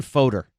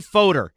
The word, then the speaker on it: Fodor: gonna hear that coming up next to Ben Fodor it's voter he was born in Texas yeah grew up